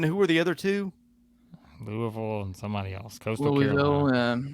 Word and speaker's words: Louisville: pronunciation of Louisville Louisville I rip I rip a hard Louie and then just you gotta roll the L's just attach a Ville on the end Louisville you you got to